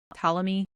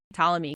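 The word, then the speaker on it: Ptolemy: Tom talamy. Talamy because it's like a PT. That's how it's pronounced.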